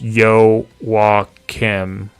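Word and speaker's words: Joachim: Uh this is a pronunciation for each characters for words that might be hard to pronounce. Jacum equals Yo Wim.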